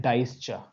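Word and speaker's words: Deutsche: तो ये होता है डाइस्च। डाइस्च ऐसी कोई स्पेलिंग है उसकी, ठीक है, इसको बोलते हैं डाइस्च।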